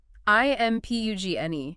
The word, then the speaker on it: impugn: I m p u g n. Impugn two syllables stress on the second looks like impugn right the G is silent impugn this means to